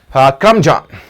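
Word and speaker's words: curmudgeon: द्वारा किया गया अपराध कहलाएगा आर सन चलिए क्रम जान ये उच्चारण भी बड़ा अच्छा है और यह वर्ड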